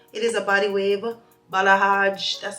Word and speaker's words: balayage: sponsoring this video it is a body wave balaj that's how you pronounce it like it's more like I like